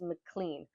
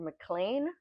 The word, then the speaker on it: McLean: constantly changing her name her actual name is McLean or mlan I kept calling her mlan but it's spelled McLean whatever in this town she